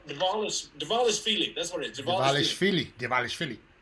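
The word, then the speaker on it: Dvalishvili: Devilashvili? It's like Milli Vanilli, right?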